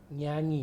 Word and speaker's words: Nyai: So we call our nenek Nyai. Nyai. Yeah, Nyai. Okay. In Java. Oh, I pronounced that correctly, Nyai. Nyai. Nyai. Yes, Okay.